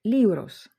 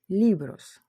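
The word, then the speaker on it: libros: Ліврос книжки. В нас два склади. Ліп рож. Слово закінчується на есе. І ми бачимо, що наголос повинен падати на передостанній склад. Ліbрос.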